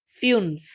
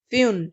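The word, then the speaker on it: fünf: via fear fear fear f u NF is v and it's pronunciation is Finn's Finn's fewn this U is another alphabet in German s ec h s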